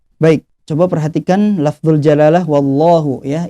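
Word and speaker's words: الله: Coba perhatikan label jalalah llahu yah ini dibacanya harus tebal ya karena sebelumnya berharokat pot Hah jadi jangan juga membacanya wow lohu wow lohu yaitu menambah huruf wow ya tidak boleh karena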